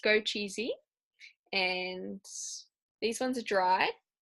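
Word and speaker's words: 枸杞: In Chinese medicine, it's pronounced go cheesy, and these ones are dried.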